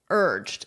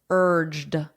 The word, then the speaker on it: urged: Notice that pronunciation, You don't really hear this vowel at all. You just hear the R, urged.